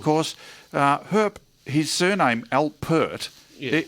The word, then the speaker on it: Alpert: uh herp his surname al pert yeah it's not albert no like the prince it's herp alpert and there's a there's an alliterative vowel sound yeah and it rhymes with uh hurt which um was i